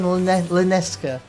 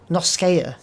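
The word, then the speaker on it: La Noscea: And I quite like the name Lanosha, but I end up saying Lerneska, which I'm definitely not saying it right, because it's Noskea.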